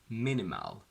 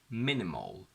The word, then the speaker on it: minimal: Now, something very important to remember is that every single word ending in AL or IL or LE is pronounced as ol, where the schwa is sort of distorted again into a O sound. So we do not say festival, minimal.